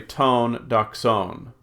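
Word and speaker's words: τὴν δόξαν: Over here, the accent mark is on the last syllable, so I'll say tone doxon.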